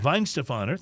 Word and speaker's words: Weihenstephaner: So I don't even know if I can pronounce this, but I'm going to take a stab at it. Weihenstephaner, Weihenstephaner. Weihenstephaner, thank you.